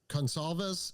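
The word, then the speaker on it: Goncalves: One of the, and I think it was Gonsalves. Is that how you pronounce the one girl's name?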